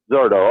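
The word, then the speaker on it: Zurdo: How do you pronounce his name? Zadoro or Zerdo? Zerdo.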